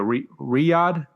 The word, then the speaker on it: Riyadh: Moving on to this past Saturday, the 28th of October from the Boulevard Hall in Saudi Arabia, Riyadh, that's how you say it.